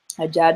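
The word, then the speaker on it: agya: So the Ja has no J in that word, but it's spelled A-G-Y-A. But that G-Y makes a J sound.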